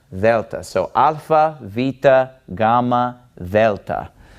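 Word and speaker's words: Δέλτα: is Vetta and it is basically pronounced like the th in the word the okay if you speak Spanish you're probably used to pronouncing the DS in this way but this is Delta Delta so alpha vita Gamma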